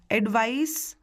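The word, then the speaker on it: advice: एडवाइस मैं स बोल रही हूँ, एडवाइज में मैं ज बोल रही हूँ।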